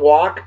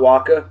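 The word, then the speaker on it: Walke: we mentioned him yesterday Tom walk not walkie not walk not waka night walkie not waka the e is silent Tom walk a badass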